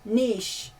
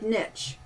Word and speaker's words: niche: things like that and she was undone by the word Niche because she'd never heard Nitch she her only heard its Niche and it so pissed